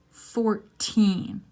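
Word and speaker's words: fourteen: 14. Stressing the teen.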